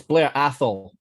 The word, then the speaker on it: Blair Athol: talisker fan as well so love it it's blair athol thank you no i appreciate it i'm always trying to get the pronunciations right the brand home of bells and